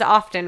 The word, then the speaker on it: often: Let the record show he does this often, and he's often wrong. You overpronounce the word often.